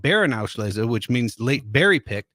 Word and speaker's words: Beerenauslese: Then they have one even sweeter than that called Beerenauslese, which means late berry picked. Beerenauslese. That's right. Nice pronunciation.